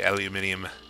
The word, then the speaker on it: aluminium: I love how the Brits say aluminium. Whereas my local accent tends to say aluminum.